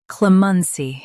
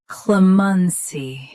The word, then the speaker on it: clemency: Clemensi. Both US and UK have the same pronunciation of this word. Stress cle keep mun soft then clear c. Clemensy. Clemensy. Stress Cle keep Mun soft then clear C.